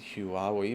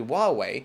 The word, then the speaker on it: Huawei: 5g within Australia and Huawei which is sometimes pronounced is who are we but it's actually why away and how because of the band that the